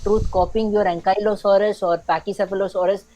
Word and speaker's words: Pachycephalosaurus: shitting through the name or he's like real, like the real pronunciation. So it's Pachycephalosaurus.